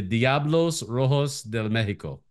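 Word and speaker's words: Diablos Rojos del México: the mexic it's the correct me in the pronunciation the Diablos Rojos de Mexico perfect you got it see so when they're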